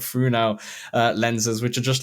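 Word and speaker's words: Fresnel: the funo uh lenses I believe I'm pronouncing that correctly um spelled Fresno but funo lenses which are just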